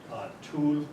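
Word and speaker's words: Tulle: have been made in tools France t-u-l-l-e pronounced tool we're a club butt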